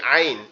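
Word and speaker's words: ع: এবং নোক্তা নাই এই আইন এই দুইটা অক্ষর কোথা থেকে হবে আমাদের এই কন্ঠনালীর এই মাঝখান থেকে অর্থাৎ এই যে উঁচু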